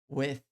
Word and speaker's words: with: Não é with. É with. With. Tem que colocar a língua entre os dentes e falar with.